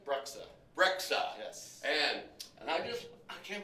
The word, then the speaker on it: Breksa: Breksa.